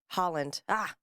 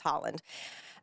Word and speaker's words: Haaland: And Deb Haaland, Haaland, I believe it's pronounced.